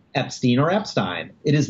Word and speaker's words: Epstein: family and the family says the name is pronounced Epstein then it should follow by simple logic that the name is pronounced Epstein and I I would say that is not